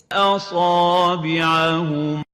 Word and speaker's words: أصابعهم: And the right way of pronouncing it, as we're going to hear it from Sheikh Al-Hawsari, أصابعهم أصابعهم. So we need to adhere